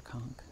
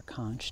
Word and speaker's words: conch: is a welc or a conch or a conch depending on how you want to pronounce it and we find these all the time so this is their children and uh like i said that the term welk and konk seems to be interchangeable here